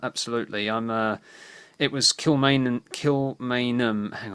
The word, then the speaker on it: Kilmainham: yes yeah um absolutely i'm uh it was kill main and kill main um hang on am i getting this right kilmainham that's how you pronounce it where the um the 14 leaders